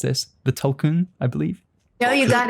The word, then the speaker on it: Tulkun: Again, apologies if you're listening, James, because I'm going to mispronounce this. The Tulkun, I believe.